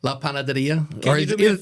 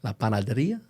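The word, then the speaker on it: La Panadería: I think he's happy with the way I pronounced it. La Panaderia. Can you do me a favor, Ken? what's Can you that? say that 3 times fast? La Panaderia, La Panaderia, La Panaderia.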